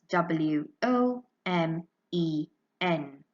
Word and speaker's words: women: becomes women women and the spelling goes w o m e n the vowel a at the end of the